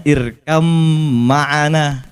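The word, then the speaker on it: اركب معنا: Karena irkab ma'ana, bacanya irkam ma'ana, ya kan? Karena ada idgham, ada ikhfa, ada idhar. Nah, itulah diciptakan lagi ilmu namanya ilmu tajwid tilawatil Quran.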